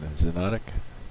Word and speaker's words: Xonotic: Welcome to Meganet Gaming, and today's review is going to be on Xonotic. That is spelled Xonotic.